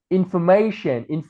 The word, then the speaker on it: information: Tất cả những cái đuôi tion, duration này thì trọng âm sẽ rơi vào trước cái âm đấy, thì nó sẽ là information hoặc là education, information.